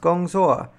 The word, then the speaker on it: gongzuo: And what's even cooler, it shows us the pinyin, so we know it's pronounced gongzuo.